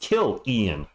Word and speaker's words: Killian: just started playing in 2021 Killian oh it's pronounced kilan Killian hay a 65 point guard all right